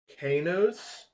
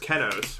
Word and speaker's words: Kenos: I have no knowledge of Kanos. I don't think I pronounce it like that. I don't know where you're getting the A sound. It's definitely just Kenos, right?